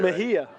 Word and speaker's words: Mejia: i wrote it down i wrote m-e-h-e-y-a there you go that's how i wrote it down do it phonetically mejia yep and a lottery